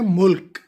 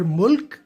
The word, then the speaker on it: ملک: تو اصل تلفظ اس کا ہے ملک، ملک نہیں ہے. پلیز اس چیز پہ غور کریں کہ لام پہ زبر نہیں ہے، جزم ہے. تو ملک.